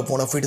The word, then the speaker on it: bona fide: সো বোনা ফাইড certificate বা বোনা ফিড certificate, both the pronunciation is right actually.